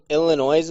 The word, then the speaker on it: Illinois: it said it was illinois man but basically he was like in a dental visit and hailed a drill bit did you just pronounce the s unsarcastically in illinois did i just say